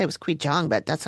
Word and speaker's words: Qigong: I want to say it was qigong, but that's not how it's spelled.